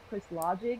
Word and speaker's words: Crys Logic: I'm 22 years old, and I have a YouTube channel that goes by the name of Chris Logic. It's spelled Cries Logic, like Crys.